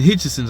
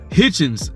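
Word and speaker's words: Hitchins: Gary Antoine Russell you got Richardson hiton Richardson hitchon I'm sorry Hitchens I always feel like his name was hard to pronounce Richardson Hitchens Africa just freaking I just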